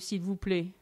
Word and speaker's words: s'il vous plaît: Someone who doesn't know might say the T at the end of s'il vous plaît, right? And it's never pronounced. That one, never say it.